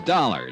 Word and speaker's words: Dollar: It's Dollar, Johnny Dollar. Dollar, huh? Yeah, it rhymes with collar.